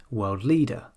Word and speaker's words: world leader: So instead of saying worldwide, we say worldwide. And instead of saying world leader, we say world leader.